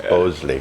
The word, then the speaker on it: Bhonsle: However you'd like to pronounce the N, it's Bhonsle. Thank you, Paul.